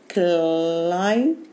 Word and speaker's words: climb: كلايم. قوليها تاني. كلايم. كلايم. البي هنا هننطقها عشان البي ايه؟ سايلنت. سايلنت.